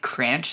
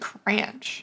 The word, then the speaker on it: Cranch: squid or the Antarctic Cranch squid Cranch Cranch I think that's how you pronounce it right looks like it it's like ranch with a C mhm yeah it's a